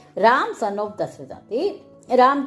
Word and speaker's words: Dasaratha: है राम सन ऑफ़ दशरथ राम की बेटे है दशरथ दे ठीक है इंग्लिश हमेशा आखिर ए लगा है सु प्रोनाउंस भी करना पदा है ठीक है रामा सन ऑफ दशरथा ठीक है आप ये